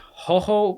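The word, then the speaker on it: jojoba: the other day that it's pronounced ho ho like h-o-h-o-b-a oil so that other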